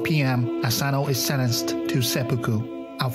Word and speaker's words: seppuku: Samurai who has lost his honor or failed his master was meant to commit a suicidal ritual known as seppuku.